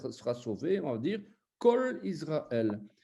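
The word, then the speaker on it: כל: Par exemple, tout Israël sera sauvé, on va dire Kol Israël. Eh bien, le O, en fait, c'est un A. On écrit un A, mais on sait qu'on prononce O, quoi.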